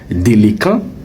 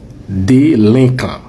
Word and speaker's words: délinquant: Donc le mot ne se prononce pas délécant, le mot se prononce délinquant.